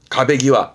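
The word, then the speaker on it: 壁際: 이게 즈음 제자인데 이 제자 발음을 보통 볼 때는 곡 사이에 사이를 많이 하기도 합니다만은 이때 발음은 가베기와입니다.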